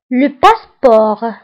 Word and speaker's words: passeport: جواز السفر le passeport. Le passeport. Le passeport. فبالنسبة لو باسبور كنكتبوها بالتي في آخر الكلمة ولكن لا تنطق.